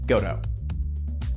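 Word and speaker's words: Gotoh: have to make a stand on how you pronounce a couple of things goto that's how it'll be as far as electronics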